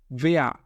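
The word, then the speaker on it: wer: ভেয়া, ভেয়া এখানে দেখেন এর সর্বশেষে রয়েছে এবং এ এবং এর যদি সর্বশেষে থাকে তাহলে এটার উচ্চারণ আয়ের মতো হয় এবং রটা উজ্জ থাকে।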